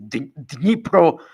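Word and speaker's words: Днепр: Judy says, Putin said today concerning the new missile demonstrated in Dnipro, that's not how he pronounces it. He does the Russian pronunciation, which is Dnipro.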